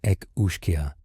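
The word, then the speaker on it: each-uisge: The each whisker, pronounced roughly as Ec Ushkia, roams coastal areas and saltwater inlets.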